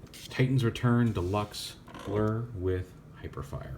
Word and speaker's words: Hyperfire: Deluxe blur with hyperfire I think it's hyperfire right it's not hypers shoot hyper fire okay let say it's going to be something weird like hypers shoot and I'm going to be saying it wrong I know it's hyper fire I was right yay